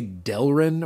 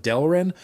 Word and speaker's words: Delrin: I say Delrin or Darylin sometimes instead of Delrin.